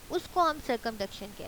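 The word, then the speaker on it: circumduction: Next हम move करते हैं सरकमडक्शन। सरकमडक्शन ये वाला वर्ड बोलना सीखेंगे, सरकमडक्शन।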